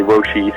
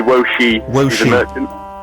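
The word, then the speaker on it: 我是: say like I am Steven Merchant you say woshi Steven Merchant okay brilliant yeah what was it again uh well you could say wosi I'm just going to write that phonetically woshi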